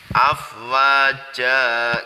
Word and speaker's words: afwaja: in atau fathah tanwin tetapi karena waqaf ini dibacanya seperti Mad Thobi'i dibaca panjang dua harokat dan dibacanya cukup jaga Jan gitu ya karena ini mad iwad mad pengganti ya diganti itu ya afwaja gitu santri semuanya ya Hai